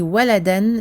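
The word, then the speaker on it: ولدا: Il est écrit waladan, mais on prononcera walada parce qu'on s'arrête ici, on fait une courte pause parce que c'est la fin du verset.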